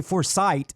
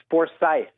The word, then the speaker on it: Forsythe: name is a force i want to say foresight but there's no t right it's forsythe with a ch gotta go no you don't have to thaw you just say forsythe there's no there's none